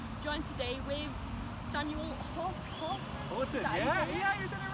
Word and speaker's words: Haughton: Haughton, yeah, you did it right, yeah. I finally pronounced someone's name right.